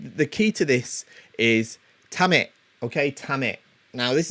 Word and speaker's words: tame: it in english um it's pronounced tamit not tame uh okay you don't want